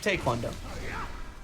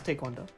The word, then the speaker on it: taekwondo: It's pronounced that everywhere. Not in America. People just mispronounce it. Yeah, that's what I'm but- saying. It's not in But America. taekwondo is like, it's because if you say it fast, it kind of sounds like taekwondo.